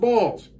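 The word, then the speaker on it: Baals: a a LS but it's pronounced balls um but they didn't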